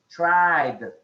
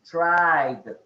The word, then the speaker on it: tried: we're good really good make sure you pronounce the last d tried tried okay can you pronounce it mario say tried try good don't forget to make a uh an accent on uh or reinforce the last letter letter d tried okay so what